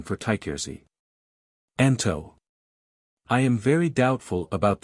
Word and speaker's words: Anto: His name was sometimes pronounced Antu or perhaps more correctly Anto or Antu.